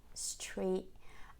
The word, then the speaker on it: street: of stop um and she doesn't say the tea she just finishes in this position for the long e sound which is by the way very tense and smiley e e Street and she stops the